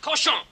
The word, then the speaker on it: cochon: The word is pronounced cochon.